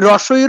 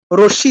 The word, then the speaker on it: হ্রস্ব ই: আমরা হ্রস্ব ই বলি না, দীর্ঘ ই বলি না। বলি কি? রস্যি দীর্ঘি। রস্যি দীর্ঘি বলতে কিছু হয় না। কি হয়? হ্রস্ব ই, দীর্ঘ ই।